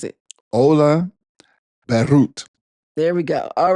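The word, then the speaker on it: Ole Børud: So pronounce it again, babe. Can you do it twice? See? Ola Berut.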